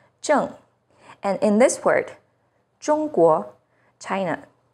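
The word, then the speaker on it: 中国: and in this word, 中国, China. ZH sounds like the first sound in jerky, with the tip of the tongue raised against the hard palate.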